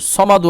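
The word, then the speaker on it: ٱلصَّمَدُ: জবর ল হাফেজ হু এখন এই যে সদের উপর কি রয়েছে তাসদিদ তার জন্য হাদ পেশ হুস পড়বো ঠিক আছে আল্লাহুস সদ জবর স মিম জবর মা দাল দাল পেশ দু সমাদু আছে আয়াতের জন্য এখানে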